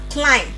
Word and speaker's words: climb: We have bum. Comb. Lamb. Thumb. Dumb. And climb.